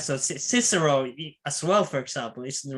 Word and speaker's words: Cicero: But for the classical period, basically, that C is a k, and the V is a w.